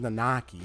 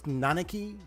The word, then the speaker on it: Nanaki: nanaki in the party I always pronounce as nakaki if it's nanaki then okay that's how it was pronounced this whole time which was funny